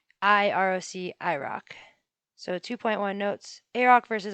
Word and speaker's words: IROC: rock versus iroc um i'm going to be pronouncing a roc a rock and then i roc rock so 2.1 notes a-rock